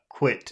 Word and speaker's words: quit: and it happens uh quit it happens more it's more like you try to eat the eye it happens in the back of your throat quit you have to